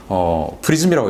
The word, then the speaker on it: PrSM: 프리즘이라고 요즘 발음을 합니다.